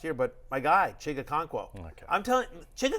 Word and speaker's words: Okonkwo: end of last year, but my guy, Chig Okonkwo.